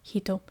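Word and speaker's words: 一: The reading is hito.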